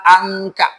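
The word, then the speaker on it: عنك: Ayat kedua pakai ain bunyinya angka.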